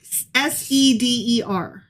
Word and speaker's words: Seder: SEDER. SEDER. Okay. Yeah. All right. Not with a C, not wood. Okay, I'm getting information that it might be Seder is how it's pronounced.